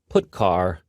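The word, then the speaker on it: putchar: these three are the most popular they are pronounced printf putcar and puts each function is designed to send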